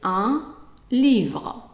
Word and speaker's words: livre: So we already did the word un before when we did the articles, and we know that the I is pronounced as an E, and the E at the end is silent, so it's easy to read.